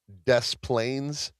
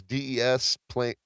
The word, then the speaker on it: Des Plaines: I don't know because the S is silent. Oh yeah. So when I sold cars, there's a town in Illinois called Des Plaines. It's Desplains, Des Plaines.